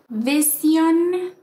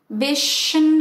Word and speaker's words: vision: place our articulators now if you are spanish-speaking a native spanish speaker this is probably what you usually do vision or vision as if it were just an sh vision but this is the trick the activation of your voice now let's practice